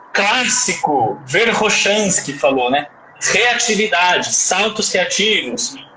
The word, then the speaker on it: Verkhoshansky: Isso é uma regra, mas o nome correto, a pronúncia correta é Verkhoshansky, certo? Como se fosse com 2 R's.